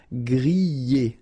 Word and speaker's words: griller: You pronounce them A, okay, even if you've got this R, okay, this combination of 2 letters, R at the end, will give you the sound E, all right, so griller, okay, let's see the others.